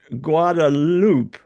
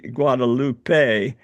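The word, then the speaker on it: Guadeloupe: And she's actually Guadaloop. I was I I've been instructed that I don't say Guadalupe uh because that would be a Spanish pronunciation.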